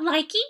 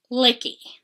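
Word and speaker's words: Lykke: It is not likey, it is licky, I think is the correct pronunciation making the rounds.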